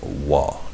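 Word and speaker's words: Waw: It says wa, W-A-W, the sixth letter of the Hebrew Alef Bayt.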